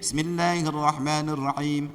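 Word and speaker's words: بسم الله الرحمن الرحيم: Bismillahirrahmanirrahim, hem bukan him, ini hem.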